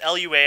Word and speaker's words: Lua: I don't think it's Lua. I believe it's actually pronounced Lua.